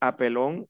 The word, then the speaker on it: appelons: La única que es distinta es nous y vous, que se dice apelón, apelé.